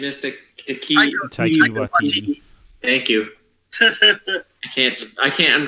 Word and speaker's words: Taika Waititi: like Tahiti, whatever his name is, Taika Taika Waititi. Thank you. I can't. I'm dyslexic. Okay, Oh, so hard name to pronounce anyway.